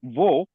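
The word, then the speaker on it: वह: and vo that's a colloquial pronunciation colloquial pronunciation. Okay. Okay. So you can either use va or vo. Vo is very very much very much used.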